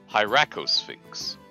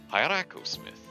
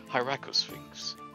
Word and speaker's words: Hieracosphinx: So, Hieracosmith. Hieracosphinx. Oh, I just stuffed the first two ways of saying that. It's not Smith, it's Sphinx. Yes, Hieracosphinx.